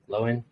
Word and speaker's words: Loewen: Loewen, right? Indeed, pronounced correctly.